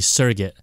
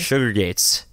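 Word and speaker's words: Surrogates: basically like that game or that movie, Surrogate. Oh, was it Surrogate? Sugar Gates. That's how I always pronounced it.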